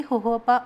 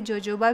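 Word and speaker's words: jojoba: इसके अलावा मैं इसमें मिला दूंगी होहोपा ऑयल के 5 से 6 बूंदें। ये बेस्ट मॉइस्चराइज़र है, इसे जोजोबा भी कहते हैं, स्पेलिंग इसकी जोजोबा आएगी, पर ये बेस्ट मॉइस्चराइजिंग होता है लिप्स के लिए।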